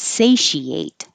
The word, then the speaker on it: satiate: So the verb form sounds like ate. This one is satiate.